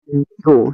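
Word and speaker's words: do: आगे है डो तो डी ओ को डो नहीं पढ़ना है। अगर आप डो पढ़ोगे तो फिर ए आपका गलत हो जाएगा। तो यहां पे डो नहीं पढ़ना है। इसको आपको डू पढ़ना है।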